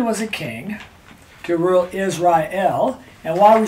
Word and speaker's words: Israel: because that distinguishes help so it's Israel three syllables not Israel so it hasn't to